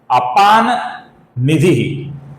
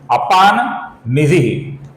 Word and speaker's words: अपाम निधि: म, अपूर्ण म, किंतु आगे न आने के कारण हम म की जगह पर अपूर्ण न का उच्चारण करेंगे दोस्तों। यहां पर उच्चारण होगा अपाम निधि की जगह पर अपान निधि, अपान निधि।